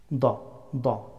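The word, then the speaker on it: ضاد: Da, da, da, dad. The letter of dad pronounced from left or right edge of the tongue, touching upper molar.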